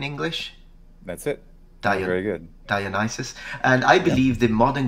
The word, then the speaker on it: Dionysus: And so I think Dionysus is how you say it in English. That's it. Very good. Dionysus.